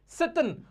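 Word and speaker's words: Tsetan: अब ये जो वो क्या करते हैं, एक ड्राइवर को हायर कर लेते हैं जिसका नाम सतन होता है। ये जो ना इसमें टी साइलेंट होता है, लद्दाख के जो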